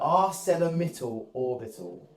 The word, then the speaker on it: ArcelorMittal Orbit: How do you pronounce that word? ArcelorMittal Orbital is what it's called.